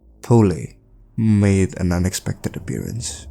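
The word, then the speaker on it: Polly: Poli made an unexpected appearance, or I should say Poli, because that's like the correct pronunciation, confronting Jimmy in his own psyche.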